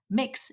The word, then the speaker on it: Mx: used in the episode mix is how the gender-neutral title mx is pronounced it was recorded on